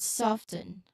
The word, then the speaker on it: soften: Okay, so try saying the word soften both ways. Soften, soften. Soften with T and without the T to feel the difference.